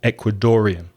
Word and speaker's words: Ecuadorian: R I am Ecuadorian so the stress is on the middle syllable Ecuadorian an Ecuadorian person and as I mentioned